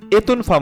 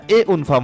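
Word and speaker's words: et une femme: যেমন আনম এ উনফম এতনফম হবে না এ উনফম হবে আনম এ উনফম মানে একজন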